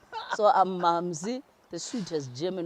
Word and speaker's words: Mamsi: the sweetest german wine it's actually pronounced mamze oh wow yes the sweetest german wine so who doesn't like anything sweet yeah i don't know let me just keep this name so i'm mumsy the sweet just jamming